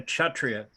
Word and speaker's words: Kshatriya: Similarly, a Kshatriya. It's like K and S is pronounced Kshatriya.